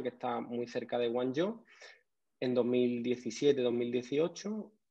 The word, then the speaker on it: Guangzhou: La ciudad en chino, que se pronuncia como bien sabes, Guangzhou.